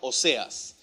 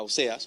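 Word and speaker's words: Oseas: original de josué era óseas que en hebreo se pronuncia algo como ósea y esta palabra o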